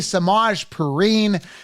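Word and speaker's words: Samaje Perine: to the Denver Broncos samaje piran AKA samaj purine that's how you should pronounce it absolutely sucks now you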